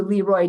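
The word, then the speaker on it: Le Roy: But they would say destroy Leroy was like so you had to do Leroy to make that rhyme with the destroy.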